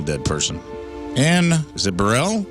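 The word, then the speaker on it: Burrell: And is it Burell? Burell.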